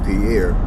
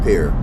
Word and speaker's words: Pierre: South Dakota FYI uh it's not pronounced per year it's pronounced peer apparently a lot of